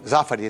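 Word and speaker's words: Zaffari: Bom, e você e você pronunciou certinho, Zafari, né? É porque tem muita gente que não pronuncia certo.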